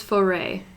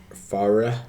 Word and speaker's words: Foray: Also, you pronounced it, like, very wrong earlier. It's Far- it's foray. Farah.